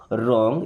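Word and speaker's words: wrong: Is means है रॉन्ग। यहां पे डब्ल्यू साइलेंट।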